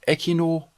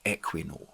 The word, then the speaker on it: Equinor: pronunciation of its name in Norwegian it seems to be called echinor but English speakers tend to refer to it as Equinox Equinox has the Ticker